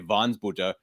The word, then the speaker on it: Wansbutter: I have it so in my head as a German pronunciation. I was telling him right before the show. I want to say Wansbutter, but his family does come from Prussia, so we'll pronounce it the German way, I suppose.